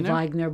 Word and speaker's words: Weigner: And so, surprisingly enough, if you put my first name and my last name, I pronounce it Weiner, but it should be Weigner.